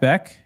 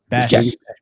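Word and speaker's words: Bech: Jack Beck. Jack Besh. You got to pronounce the same way. Besh.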